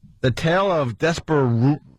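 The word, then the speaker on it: Despereaux: The Tale of Despero... How do say that? Despero! Because they spell it D-E S P E R E A U X Well what is THAT about?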